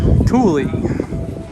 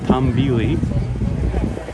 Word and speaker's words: Tumbili: coming out next year tule i had the name wrong is tom vili and here we go